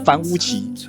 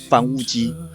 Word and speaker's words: 樊於期: 的读音在台湾和中国不太一样，台湾比较常念作樊於期，而在中国则比較常听到樊於基。两边讲的都是同一个人，只是读音习惯不同而已。